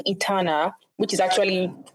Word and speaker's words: Itana: The name Eterana which is actually correctly pronounced Eterno is a Euroba word which means to ignite.